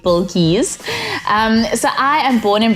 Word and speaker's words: Bilqees: to pronounce my name but it's like a bowl and keys then you get bulkies so i am born